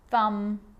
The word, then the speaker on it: thumb: with the letter B it's always silent when it follows the letter M climb Krum lamb thumb dumb and plumber so practice them with me I'm not pronouncing the B I'm just pronouncing the M consonant sound climb Krum lam some